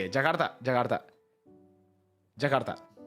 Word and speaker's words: Jakarta: It's not duh, not not D, but like T. So, the Rs and the T's are more like ah, you know, like more Jakarta. No, I know. Jagartha. Jagarta. See, that's how you say it.